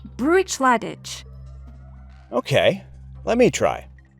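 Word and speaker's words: Bruichladdich: Professor, this distillery is pronounced “BROO-itch-LAD-ich.” Okay, let me try: “BROO-itch-LAD-ich!”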